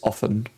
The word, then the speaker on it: offen: Offen Mountain Range, and it is pronounced like this, often. So it's a very short F because of the double F. And it's more, it's not, it's like in hovering, like that O, so I don't know if that helps.